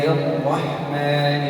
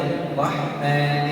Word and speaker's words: الرحمن: بسم الله الرحمن الرحيم. في كلمة الرحمن لا أمد الشفتين إلى الأمام، إنما خروج الراء من ها هنا، أضع اللسان ها هنا. بسم الله الرحمن الرحيم.